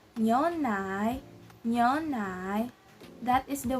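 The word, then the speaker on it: 牛奶: So the pronunciation, because it has the second tone, we're gonna sound like we're asking a question again.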